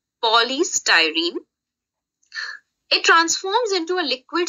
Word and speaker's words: polystyrene: Okay, don't get confused in the pronunciation of the word. Polystyrene.